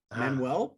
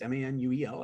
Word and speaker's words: Manuel: Manuel, Portuguese, Manuel.